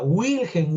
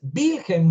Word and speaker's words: Wilhelm: No se pronuncia Wilhelm Wundt, no, porque no es inglés, es alemán. Y las palabras escritas en alemán, cuando tienen W, se leen como B, como V, pues, ¿no? Es Wilhelm Wundt.